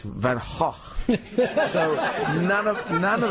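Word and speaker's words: Van Gogh: But I said how do you pronounce the name of your painter Van? Is it Van Go or Van? And they say it's Van Hawk.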